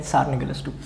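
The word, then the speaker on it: tsar: ठीक है, तसार Nicholas to, कुछ भी बोल लो, तसार नहीं, टी साइलेंट है, तसार निकोलस टू।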